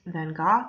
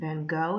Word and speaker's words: Van Gogh: oneself so this artist his name is vincent van gogh or vincent van gogh is probably the pronunciation you're used to he has chosen to